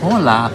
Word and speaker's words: hola: and in Spanish it's hola except for an H but which you don't even really pronounce the h that much like you don't hear it it's really soft but here specifically it's